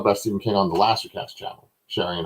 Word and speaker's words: Lisey: Did I say Lisey right? Yes, you did. Ooh, okay. It's supposed to rhyme with CC.